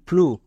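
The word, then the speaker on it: flue: না যেমন এখানে দেখো প্রত্যেকটি ওয়ার্ডের শেষে ই আছে তার মানে ই এর উচ্চারণ করতে হবে না তাহলে এটা কি দাঁড়াবে এফ এল ইউ ই ফ্লু তাহলে এখান থেকে আমরা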